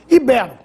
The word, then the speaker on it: ibero: se fosse proparoxitona habitat ibero ibero é assim que se pronuncia o nome dos antigos habitantes da Península Ibérica látex essa palavra deve